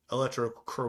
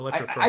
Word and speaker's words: electrochromic: actually the one that told me how to say it correctly, because I was saying electrochromatic. What is It's chromic. I Electrochromic.